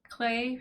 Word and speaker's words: Klei: So this is the Klei Rhymes with Klei dev stream.